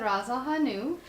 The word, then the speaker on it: Ras el hanout: Can you please pronounce the spice again? This is the Ras Al Hanout.